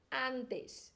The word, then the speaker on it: antes: ler a palavra toda antes e eu que sou carioca às vezes esse S do final vira um x na antes antes antes em espanhol gente continua com som do S Arantes a desce e